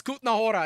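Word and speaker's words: Kutná Hora: It's Kahora. Excuse me. K U T N A. Kahora. You'll look, you can spell it wrong and you'll still figure it out.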